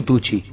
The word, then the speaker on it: Tucci: ¿Es Tucci o Tucci? Tucci, como lo dijimos al comienzo.